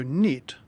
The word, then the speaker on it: knit: being a thief so knit like other words starting with KN as a silent K such as knife or knee people who knit and